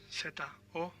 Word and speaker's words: zorro: And then we have zorro, Z-O-R-R-O. Now remember that the Z or the Z in Spain is pronounced th, so a Spanish person will say zorro, Z-O-R-R-O.